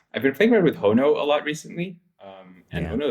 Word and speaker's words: Hono: Because you keep saying Hano, it's Hano in my brain now permanently, and I always Google it with an A, and then I'm like, oh no, it's Hono.